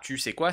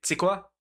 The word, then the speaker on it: tu sais quoi: Tu sais quoi, on peut le prononcer super rapidement, donc c'est pas tu sais quoi, c'est tu sais quoi. Bon, tu sais quoi, on s'en bat les couilles.